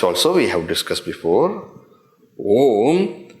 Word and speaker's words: Om: Om has got 3 syllables. Om, the Akshara Om is constituted of 3 syllables. What are 3 syllables? A, U, Ma.